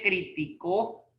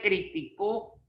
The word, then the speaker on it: criticó: yo dijera, él me criticó, ¿esa lleva acento o no? Criticó. No. Lleva en la O, ¿no?